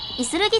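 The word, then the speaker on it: 石動: 石が動くと書いていするぎと読むんですね。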